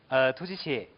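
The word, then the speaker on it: ཐུགས་རྗེ་ཆེ: 对啊，突击切重音放在兔上面。重音在兔就是突击切。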